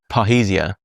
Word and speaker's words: parrhesia: Almost certainly going to pronounce it wrong. Parrhesia.